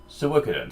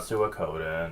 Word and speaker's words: Suikoden: when I was doing Suikoden stuff. And yes, that is how it's pronounced, not Suikoden. It's... the way I pronounce it is a lot closer to the original Japanese one.